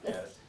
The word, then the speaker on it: Gaddis: Gaddis. Gaddis, as someone whose name is always mispronounced.